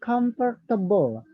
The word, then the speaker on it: comfortable: Okay, and then comfortable. Comfortable has three syllable, not comfortable, not, but it's comfortable. Comfortable, yeah, three syllables.